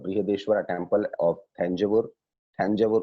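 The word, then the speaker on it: Thanjavur: थंजावुर उस वक्त कहा जाता था, not today it is being pronounced as तंजावुर या तंजौर.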